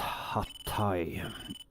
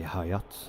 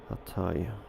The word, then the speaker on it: Hatay: I always mispronounce that airport, which is Hatay. I usually say Hayat, but it's of course not that, it's Hatay.